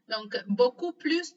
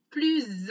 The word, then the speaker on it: plus: On ne prononce pas la lettre S à la fin du mot plus dans une expression négative.